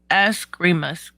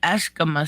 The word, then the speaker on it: Eskrima: It's pronounced Eskrima sticks. Eskrima sticks. I always say it Eskima sticks. I don't know why.